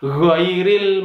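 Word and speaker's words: غير: uh chairil mag sama tidak boleh dibaca unggul gill enggau ril salah karena bukan emg enggak chairil salah yang benar adalah khoiril malu2 situ ada alif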